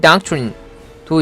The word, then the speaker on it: doctrine: 발음은 doctrine, DOC 발음은 doc이라고 하면 되고요. TR은 이래죠. 끝에 있는 린은 린이라고 할 필요 없습니다. 른, 이 정도 하면 됩니다. 른. 그래서 다 합쳐서 얘기하면 doctrine 이 되는 거죠.